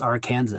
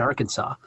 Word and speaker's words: Aransas: which people don't know you have to pronounce Aransas you can't pronounce it Arkansas get angry with you